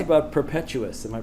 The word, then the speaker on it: Perpetuus: about Perpetuus. Am I pronouncing that name right? Perpetuus.